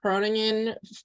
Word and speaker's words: Groningen: Yeah, it's like Groningen would be kind of the English. So I'm American. Yeah. I'm sure people can probably hear that. I didn't pronounce it like in Dutch, but it's like it's the hairy G in Dutch, the Groen, I can't say that.